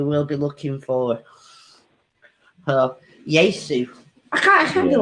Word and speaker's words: Yaesu: Yesu. Yesu. Right. Yeah, it's spelled Yaesu. Yesu.